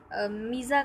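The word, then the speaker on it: mesa: एज, 234 जो है उसको जनरली मीज़ा कहा जाता है, यानी मैसा, इसको मैसा भी बोला जाता है और मीज़ा भी, और इसकी प्रोनाउंसिएशन दो हैं और इसके दोनों के अलग अलग मीनिंग हैं।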